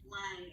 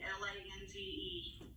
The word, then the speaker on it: Lange: How do you like to pronounce it? Lange, Lange.